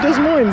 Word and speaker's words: Des Moines: up but sounds good des moines how do you say it doesn't mind ziggy all right welcome